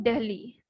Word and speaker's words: Delhi: New Delhi, and I ask you to see the spelling of Delhi very properly, but because if we pronounce it, so we might think that the spelling should be Dehli, but the spelling is Delhi.